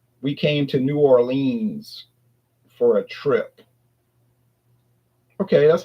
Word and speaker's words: New Orleans: say we came to New Orleans for a trip. Okay, that's how it's spelled. So, we can't argue with that. But no one around here would say that. They would say New Orleans.